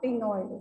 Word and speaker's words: ctenoid: These are having the placoid scales, but the scales present in this, these are called as either cycloid or ctenoid. C is silent. ठीक है, cycloid or ctenoid scales, right?